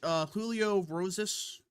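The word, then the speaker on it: Julio Rosas: Julio Roses.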